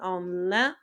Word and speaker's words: en lin: So make sure when you're trying to say wool, you really pronounce that E, that N. So en laine, if you're wanting to say wool, and en lin, if you're wanting to say linen.